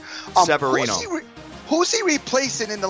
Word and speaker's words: Severino: Who is Severiano? If you haven't been pronouncing it right, Severino.